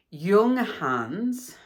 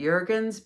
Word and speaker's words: Junghans: And for the first part of the video, I say the name wrong. I call it Jurgens because I don't know. I I think I was overwhelmed with the yarn. I I don't know. The name of the place is Yung Hans.